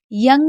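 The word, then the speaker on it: young: यंग में किसको आ पढ़ा गया है? ओ यू को आ पढ़ाया गया है, यानी कि यंग, वैसे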